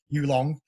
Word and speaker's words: Yulong: I keep pronouncing his name wrong. Yulong.